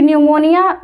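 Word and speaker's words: pneumonia: क्योंकि आपको पता है ना कि निमोनिया भले एम से आपको लगता है लेकिन पी इसमें साइलेंट होता है।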